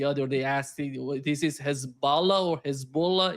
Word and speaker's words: Hezbollah: The pronunciation is Hezbollah, which means the Hez means the party, and the second word is Allah, means the Hezb, the party of God.